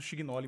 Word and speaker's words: Chignolli: O termo o correto é italiano, então se pronuncia Quignoli. Estamos no Brasil, a gente acaba falando Schignoli mesmo.